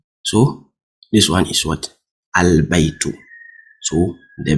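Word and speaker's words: البيت: what say Kamar why because the L IS NOT silent is head in pronunciation that's why I said albaitu albait you can hear the L right albaitu so the B the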